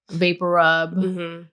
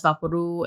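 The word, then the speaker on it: VapoRub: For me, it was more like Vapor Rub. which I grew up with it as Vaporu. And as of recently, as an adult, I figured that's not how you pronounce it.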